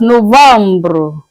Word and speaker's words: novembre: In French, it's being pronounced as Novembre. Novembre. Je répète, Novembre.